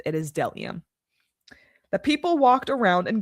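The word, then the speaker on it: bdellium: You do not pronounce the B. The B is silent. It is delium.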